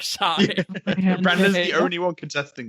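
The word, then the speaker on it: Shai: says Shay. Yeah. He Oh, always says AI. Oh, as Brandon. No. No. It's No. only contested because Brandon says it not like shy.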